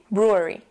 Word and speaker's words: brewery: difficult to pronounce and that is because of the r sounds R it's very very faint a very soft R sound which in itself could be a very difficult uh sound to pronounce the second reason why